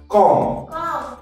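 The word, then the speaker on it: comb: হয় ক্লাইম্ব তারপর আছে সি ও এম ডি কম কম এখানেও আমরা বিয়ের উচ্চারণ করবো না আমরা কি বলবো ক ম ঠিক আছে এন ইউ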